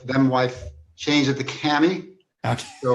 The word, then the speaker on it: Kamhi: Is it Kami or Cammy or how do you pronounce your last name? It originally was Kami, but when I got married, my my wife them wife changed it to Cammy.